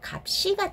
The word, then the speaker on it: 값이: 예문을 통해서 알아보도록 하겠습니다 1번에 값이라고 했잖아요 자 보도록 할게요 어 의미가 있습니까 큰 의미가 없습니다 여기서 말하는 것은 제가 어 거기 뭐죠 번째 의미를 말하는게 아니에요 실질적인 의미를 말하는 거예요 없으니까 어떻게 해요 뒤에 것만은 뒤로 넘은 기 있죠 그러니까 발음이 어떻게 됩니까 갑 시인데 쌍 시옥 같은 경우는 어떻게 해요 뒤로 넘어갈 때 된 소리로 발음한다 그 값 시가 되겠죠 그죠 이건 맞습니다 2번은